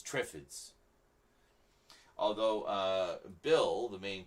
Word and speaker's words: Triffid: these on the Shelf um Day of the Triffids I remember talking to a friend of mine when I was younger and he says they should pronounce it trids that sounds more evil trids no it's it's